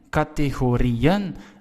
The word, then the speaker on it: categorieën: You hear the stress, it's on ri. It's the last part of the word. So now what we'll do is we will add en. Categorieën. Again, we need a trema.